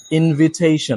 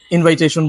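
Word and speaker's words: invitation: Singh lion lion okay 16 ইনভাইট এন্ড ইনভিটেশন ইনভিটেশন noun ফর্মটা আমরা খুব বেশি ভুল করি ইনভাইটেশন বলি কিন্তু সঠিক উচ্চ হচ্ছে ইনভিটেশন ইনভিটেশন এন্ড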